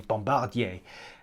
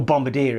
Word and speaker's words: Bombardier: or bombardier recreational products or simply bombardier or bombardier if you're a brit who doesn't like french pronunciation as you can see